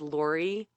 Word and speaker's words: Laurie: me on instagram under my name which is lori and it is spelled laurie l-a-u-r-i-e the last name is m-a-j-k-a